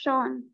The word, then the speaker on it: Sean: The name is written scene, but it's pronounced Sean.